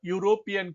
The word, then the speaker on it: European: Similarly, a European country starts with U sound and not a pure vowel sound.